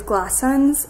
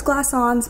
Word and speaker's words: Glassons: john party is playing my top is glass suns i thought it was glass ons but i don't think it is i knew i was saying it wrong and then my shorts